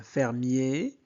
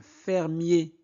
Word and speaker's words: fermier: in fermier on prononce et e suivi de deux consonnes se prononce et un fermier fe i fi un filet